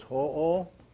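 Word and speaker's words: hoʻo: So it's ho-o. Ho-o. Not ho, like Santa Claus. Yeah, so pono, pono. So ho-o, pono, pono.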